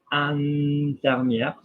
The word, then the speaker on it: infirmière: infirmière. So like vin, infirmière, we're pronouncing the R because there is an E after it.